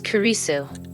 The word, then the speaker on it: Kurisu: your photo in it okay not Christina jun. LS it's kurisu I've told you that